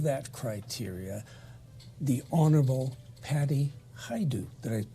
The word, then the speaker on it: Hajdu: for all of that criteria, the Honorable Patty Hajdu. Did I pronounce the name correctly?